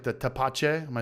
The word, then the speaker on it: tepache: only, or No, you do a lot of experimental batches, like the tapache. Am I saying it right? Tapache, yeah, tepache.